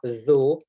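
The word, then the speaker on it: ذ: For the pronunciation purpose, the first one with the kasra, the, with the dhamma, dhu, with the fatha, the. The, dhu, the.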